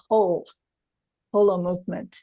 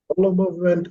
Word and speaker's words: Holomovement: Pronounce it correctly and you say Holomovement. Holomovement as in whole, and indeed, you're absolutely right.